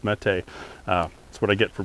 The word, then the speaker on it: Mete: to remember me saying maybe it's meat, like meeting out justice, long before suddenly the internet all spoke Turkish and said the Mete was hero or something like that, and it's pronounced Mete.